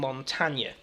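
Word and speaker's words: Montagne: American pronunciation on it because he is French you would have to assume that you would call him montta that's it it's Montana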